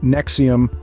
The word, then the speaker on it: NXIVM: development and absolute control ns4 M pronounced Nexium positioned itself as a